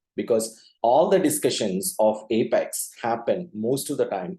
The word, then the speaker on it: APEX: you out is with how do you pronounce Apex okay the moment you see a p e x we tend to say Apex okay Apex body or something like that so we need to come out of that and pronounce it a little bit differently as Apex as you see here the phonetical pronunciation for that so maybe towards end